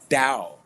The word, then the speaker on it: Tao: Charlie Hotel India November Golf and it's pronounced dao like a d but the Chinese in